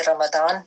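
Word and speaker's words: رمضان: की क्लास नहीं लेते तो अरबी में जो है रमदान पढ़ा जाता है उर्दू में जो है उसको प्रोनाउंस करते य प्रन जो हैय डिफरेंट है अच्छा तो हम बात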